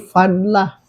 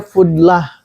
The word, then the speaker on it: fadlah: Ada yang nyebutnya fudlah, tapi yang lebih rojih ya, lebih kuat itu fadlah. Di cara bacanya fadlah. Mengatakan fudlah ingin disamakan dengan umdah, padahal beda ya. Umdah ya umdah pakai doma, kalau ini pakai fathah, fadlah.